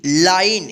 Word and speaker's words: line: LINE, लाइन, इसको लीने मत पढ़िएगा, फीने मत पढ़िएगा, ठीक है।